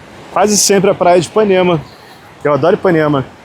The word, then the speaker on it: Ipanema: a legenda em inglês, eu sempre falo a palavra Ipanema, que se pronuncia Ipanema. Ipanema. Mas como eu falo rápido Ipanema, geralmente na legenda sai Panema. Panema, sem o I. Mas só para deixar vocês aí antenados, que é Ipanema. Não é nenhuma abreviação, nem nenhum